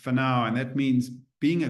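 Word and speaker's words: whānau: And the last one is pronounced whanau, and that means being a good ancestor.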